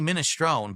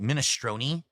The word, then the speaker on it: minestrone: No, it's actually minestrone, but a lot of people have started pronouncing it minestroni.